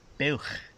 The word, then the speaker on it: buwch: It's buwch.